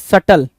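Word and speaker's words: subtle: Now next question है question number 43, सटल। कुछ लोग इसको सब्टल भी पढ़ते हैं, तो जैसे मीनिंग अपने आप में बिल्कुल अनक्लियर है, वैसे इसकी मीनिंग भी अनक्लियर है। जैसे इस वर्ड का जो प्रोनाउंसिएशन है वो अपने आप में अनक्लियर है, वैसे इसकी मीनिंग भी अनक्लियर है। क्या? सटल या सब्टल।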